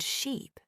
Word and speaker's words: sheep: For example, the word ship and sheep. They look similar but sound different. Ship has a short I sound and sheep has a long e sound.